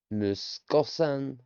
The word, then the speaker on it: 息子さん: 子さんむ Moo, むす su, すこ ko, こさ sa, さん n, ん息子さん muskosan. 息子さん Let's get that pronunciation right. Especially with the binder in the middle of the su, becomes s.